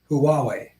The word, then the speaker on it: Huawei: um Balthasar t-28 again hue is pronounced huawei all right Huawei but the W in way isn't accented or emphasized like like war by Edward